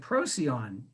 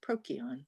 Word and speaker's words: Procyon: and albanian the greeks the ancient greeks didn't use that that sound for c it was a k sound and so it would theoretically be pronounced prokion the star but yeah